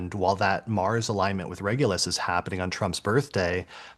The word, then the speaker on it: Regulus: Well, and even the name Regulus, which we should be pronouncing Regulus because it's the same reg as in regent. Like it's literally Mm.